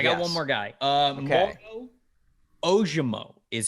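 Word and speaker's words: Ojomo: one more I got one more guy um ojumo is how you say his name offensive lineman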